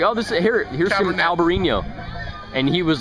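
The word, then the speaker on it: Albariño: And he's like going, say it right. And I'm saying it. It's like wrong. It's like Albarino.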